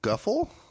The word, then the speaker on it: Guffle: No, Guffle. That rhymes with Nuffle.